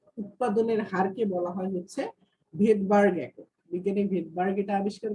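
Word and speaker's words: Svedberg: এই এসটা হচ্ছে ভেদবার্গ ইউনিট। এটা কি? এটার এই যে SVED, হ্যাঁ, BERG, ভেদবার্গ, এটার উচ্চারণ হচ্ছে ভেদবার্গ।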